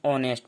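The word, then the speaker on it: honest: इस प्रकार हॉनेस्ट, इसे हॉनेस्ट नहीं ऑनेस्ट पढ़ते हैं। इंग्लिश में एच साइलेंट।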